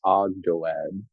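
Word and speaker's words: Ogdoad: Is usually pronounced Agdoad.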